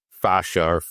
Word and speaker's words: fascia: So it is fascia, and it was actually a really good course.